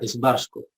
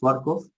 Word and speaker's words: Schwarzkopf: que los alemanes dicen cabeza negra entonces se pronuncia schwarzkopf no a diferencia de barcos como se conoce comúnmente dentro de quito excelente